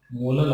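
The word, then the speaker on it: molal: तो मोल पर किलोग्राम कहें या स्मॉल m यानी कि मोलल, बोलने में यानी कि इसको प्रोनाउंसिएशन में कैसे कहेंगे, मोलल आएगा, मोलल, ठीक है ना।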